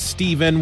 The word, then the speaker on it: Steven: host my name is Steven which rhymes with even and I'm not leaving